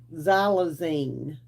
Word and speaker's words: xylazine: Um, I want to pronounce this correctly, okay? Xylazine.